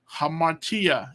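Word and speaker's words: ἁμαρτία: there's an eight there's a rough breathing over the a so it's a ha ha Martia hamatia is seeing is sin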